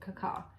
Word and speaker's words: cacao: last time we went, how they actually make cacao, is how they say it, cacao.